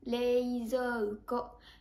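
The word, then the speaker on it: 冷蔵庫: Ici, on remarque qu'il y a les voyelles i et u, leizouko. Mais nous ne sommes vraiment pas obligés de les prononcer. Et pour cela, on va pouvoir les aspirer. Donc quand je le dis, on l'entend vraiment pas du tout.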